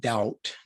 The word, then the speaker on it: doubt: The word doubt, D-O-U-B-T, silent B again, is related to the words dub, D-U-B, and double, D-O-U-B-L-E.